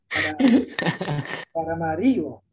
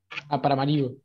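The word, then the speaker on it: Paramaribo: para Maribo. Tiene un acento en la I. Para Maribo.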